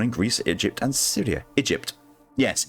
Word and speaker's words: Egypt: Egypt. Yes, Egypt. That's how you pronounce that country name.